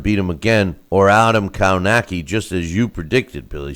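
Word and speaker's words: Kownacki: It'll be Stavern and Kaunaki, or Kaunowski as they pronounce it, as the favorites, and Washington now that he beat Baby Miller.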